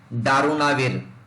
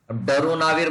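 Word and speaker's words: darunavir: तो protease inhibitor में next drug है दारुनाविर, डरुनाविर बोलिए या दारुनाविर बोलिए, जैसे भी आपको प्रोनाउंस करना है, बट प्रोनाउंस कीजिए ताकि आपको याद रहे।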